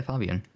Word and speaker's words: Fabian: Fabian. Yes. I pronounce his name Fabian very intentionally because that's how Australians say his name and it's set in Australia.